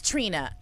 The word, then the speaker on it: Trina: And I was like, no, her name is Trina. Like the rapper. Like just Trina. Like everybody I've ever met named Trina. That's how you say it. She's like, it's Trina.